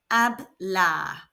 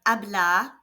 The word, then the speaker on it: hablar: which in Spanish is remember that in Spanish the letter H is silent so to speak is AB let's hear it again to use the verb abah with a pronoun we